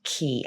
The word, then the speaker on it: Cay: ocean key and yes it is pronounced key i'm not sure why